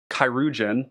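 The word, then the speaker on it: Cuirgeon: the creatures Goblin um kirugen that's how you say it by the way um this is like a an old I think it's like old French or English that basically it means a surgeon it's like a battlefield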